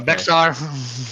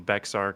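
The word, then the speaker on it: Bexar: That shit's It's bear county. You just ignore the X. I was like, "All right, what?" Okay. Bear like Bayer aspirin.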